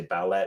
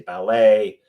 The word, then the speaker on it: ballet: You don't say ballet, you say ballet. There's no silent T in the English language.